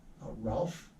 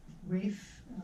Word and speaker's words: Ralph: And starring Ralph, Oh, Rafe Fiennes? Rafe, Yeah, that is how he it's pronounces got an it.